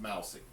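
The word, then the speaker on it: Mausy: players oh g-e-o-r-a-l-d geralt mousey m-a-u-s-y pronounced mousey okay uh he's he's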